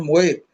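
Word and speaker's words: מות: परंतु जब इसका अनुवाद हब से किया गया तो हबू में है एम ओ एच टी लिखा है मोत उसका उच्चारण मोत यानी मोत का अर्थ एक्चुअल में सेपरेशन यानी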